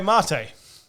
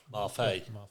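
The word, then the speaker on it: Mafe: With the number 27 pick, the Tampa Bay Buccaneers in the Snap UK draft select Boye Marte. Tell me I'm pronouncing it wrong. Marfay. Marfay. Oh, there you go.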